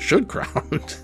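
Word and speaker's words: Schildkraut: real name is Joseph I think it's Shield crowd I should just say Shield crowd she should crowd okay now that's fun to say now that I know how to say it should crowd Joseph should crowd presents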